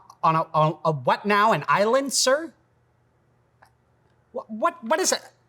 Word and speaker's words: iLencer: An iLencer? What is it? Oh, a silencer. Because the S is silent.